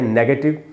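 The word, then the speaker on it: negate: ये जो वर्ड है नेगेटिव, ये किस वर्ड से बना है? निगेट या नेगेट, दो उच्चारण है, दोनों सही है, दोनों में से आप कोई सा भी बोल सकते हैं।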